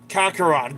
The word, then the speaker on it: Kakarot: dragon um he he he said his name wrong it's actually kakarat Kakarot Goku say it right no one is left